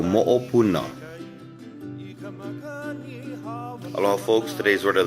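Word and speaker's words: moʻopuna: Moopuna, pronounced moopuna.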